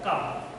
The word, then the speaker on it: calm: The harbour is blue and কাম, সেই বন্দরটা থাকে blue, Nilav, and কাম, Shanto, CALM। এখানে এল শব্দটা সাইলেন্ট থাকবে, এল এর উচ্চারণ আসবে না, কাম।